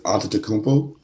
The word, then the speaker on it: Antetokounmpo: Giannis Antetokounmpo. Very Yeah. good. Now spell it. That close. That's Antetokounmpo.